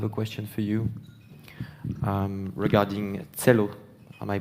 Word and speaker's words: Celo: So, actually, Markus, I have a question for you regarding Celo. Am I pronouncing it correctly? Celo, yes.